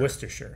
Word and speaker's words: Worcestershire: it's spelled or chester or chestershire but it's pronounced worcestershire worcestershire worcestershire like it doesn't sound like you're saying